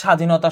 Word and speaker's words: স্বাধীনতা: শব্দের আদ্য ব্যঞ্জন মনে যদি বফলা থাকে সেটার উচ্চারণ হবে না। যেমন স্বাধীনতা স্বদেশ। এই দেখ তুমি কিন্তু বটা উচ্চারণ কর। তুমি শুধু সটা উচ্চারণ কর স্বাধীনতা। স্বদেশ তক এই ব উচ্চারণ হইতেছে না।